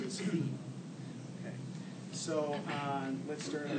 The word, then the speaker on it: Fi: Fa went up a half step and went pronounced as Fi.